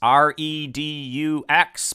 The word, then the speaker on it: redux: Yes, R-E-D-U-X, but we like to spell it R-E-E ducks, as in redux.